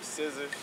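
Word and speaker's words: Scizzars: Shit, man, I got a battle coming up with somebody named Scissors. Scissors, like scissor scissors? Like scissors, but nigga spell that shit funny as a bitch.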